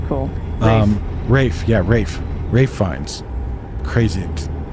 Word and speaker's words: Ralph: I saw an ad, like a first image thing for an upcoming movie, and it's Ralph Fiennes. Ralph Fiennes, I guess. Oh, it's cool. Rafe Fiennes.